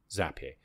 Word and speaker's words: Zapier: can connect zap here I think I pronounced that correct some people call it as a PA bar I'm sure it's as a PA because the things that you create are zaps right so zappy so how we can